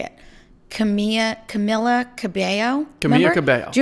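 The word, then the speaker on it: Camila: It's got to be Camilla because that's how you say that. Well, name. no, that's how you read it phonetically, but it's Camilla.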